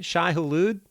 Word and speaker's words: Shai Hulud: but uh well i'll just ask you about shy hulu and am i pronouncing that correctly shy hallude yeah yeah absolutely okay uh it's a [